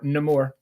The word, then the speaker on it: Namor: So I'm gonna have to go and read Namor or Namor. No depending more, on how you wanna. no more. That's how they pronounced it in Wakanda Forever.